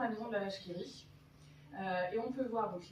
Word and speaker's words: La Vache qui rit: cette petite mention bizarre, la vache qui rit. Mais alors la plupart des gens, quand ils le voient, disent la wash qui rit. Non, le W peut se prononcer V comme dans un wagon.